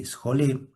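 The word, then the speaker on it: σχολή: Ustedes saben que la palabra este la palabra ocio es una palabra que deriva de una raíz griega que se escribe s j o l ejolé.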